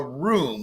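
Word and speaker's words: rhum: about in past episodes it's actually a room which is that r h u m right um pronounce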